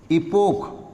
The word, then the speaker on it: epoch: या दूसरा नाम है इपोक, ये ख्याल में रखिए स्पेलिंग, EPOCH, इपोक, और ओमेगा टी प्लस